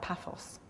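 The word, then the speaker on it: Paphos: Naples and P how do you say that pathos that's it Edinburgh combines strong business and leisures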